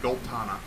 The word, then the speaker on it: Goltana: That's how I pronounce it. Goltana. I tried to put Bolt and Anna together.